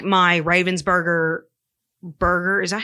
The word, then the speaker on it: Ravensburger: how do you say Crypt crypto no oh Raven's Burger it is Ravensburger um how do you spell it is it a particular puzzle like you